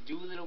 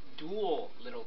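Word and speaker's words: Duelittle: You can only use this effect of Doolittle Chimera once per turn. Oh, it's Dual Little Chimera. It's spelled D-U-E-L-I-T-T-L-E, and then Chimera.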